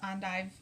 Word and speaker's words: endive: dish with jambalaya is on dive salad I'm just gonna go with that pronunciation because it's popular in a lot of Creole and Cajun cooking do you not know